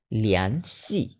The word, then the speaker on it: 联系: আচ্ছা, তারপর 8 number লিয়ান সি।